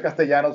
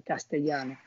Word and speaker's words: Castellano: los americanos no pronuncian castellano. La dos L la pronuncia como una sola L, Castellano.